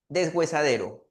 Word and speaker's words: desgüesadero: Pero acá en desgüesadero hay un detalle. ¿Cuál? Que esa sílaba we en realidad no está sonando como si hubiera presencia de H. Miren, pronunciemos ahí en nuestra casa desgüesadero y en especial la sílaba. G. ¿Qué sonido está apareciendo ahí? A ver. Así es. Está apareciendo un sonido de G.